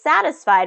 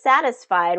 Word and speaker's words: satisfied: All right, so in this satisfied, 3 syllables, and it's the first syllable that's getting the stress. Satisfied. Satisfied. All right, the boss is unavailable this afternoon.